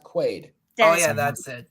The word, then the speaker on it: Quaid: It's pronounced Quaid.